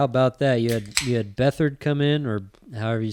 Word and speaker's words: Beathard: You had Beathard come in, or however you say his name. Yeah, C.J. Beathard. Beathard, right? Yeah. It is Beathard, yeah.